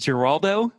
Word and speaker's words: Giraldo: the show Neil and is it is it jaldo that's it okay great thank you I was so worried I was gonna mispronounce it you got that right Peter I